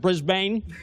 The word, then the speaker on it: Brisbane: And that's how you pronounce it, Brisbane.